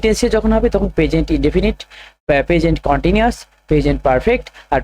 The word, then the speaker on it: indefinite: এক নাম্বার হচ্ছে উচ্চারণগুলো ঠিকঠাকভাবে করবে। ইনডেফিনিট। ঠিক আছে? ইনডেফিনিট। এটাকে ইনডিফিনাইটও বলে অনেকে।